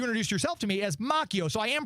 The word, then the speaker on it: Macchio: we all think of obviously the actor Ralph machio and I believe I read because one time